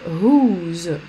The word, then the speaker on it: whose: Alors, on va aborder le whose. Comme dans who, on ne prononce pas le W.